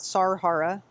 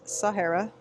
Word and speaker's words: Sahara: I was a little embarrassed, but um it's not Sarara, it's Sahara.